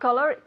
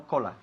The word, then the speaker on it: color: Color, no cola. Color. Color. Hay que bajar un poquito la mandíbula. Color. Color. Color, ¿ok? Color. No se dice color ni color. Es color.